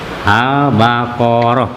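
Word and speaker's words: البقرة: Al-Baqarah, ya. Bacanya jelas ijhar al. Ini alnya al komariah, bukannya Baqarah, Al-Baqarah.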